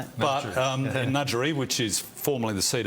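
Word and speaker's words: Ngadjuri: interest and that's as now we get the pronunciation right nudgerie well done smitho finally someone's pronounced it Right. But um Nudgery, which is formerly the seat of Fro, Penny Pratt with Tony Piccolo.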